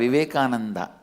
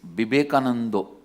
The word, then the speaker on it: Vivekananda: different yet kind of because in bengal all the ah will become o in bengali it is never a vivekananda it is vibekanando so retaining that accent